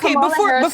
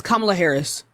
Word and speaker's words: Kamala Harris: Tell me one accomplishment that Kamala Harris before we can do that, first of all, it's Kamala Harris.